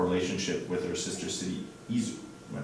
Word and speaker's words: Izu: They were in town to discuss our relationship with our sister city, Izu. Am I pronouncing that right? Izu? Izu.